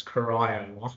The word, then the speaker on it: Corio: My understanding is that if you're from Geelong, it's Corio.